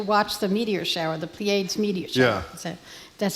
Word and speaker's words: Pleiades: My son was there to watch the meteor shower, the Pleiades meteor shower. Yeah. So that's how you pronounce it.